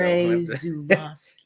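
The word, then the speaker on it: Andrzej Żuławski: Say it like that. It's Polish, so Andrzej Zulawski.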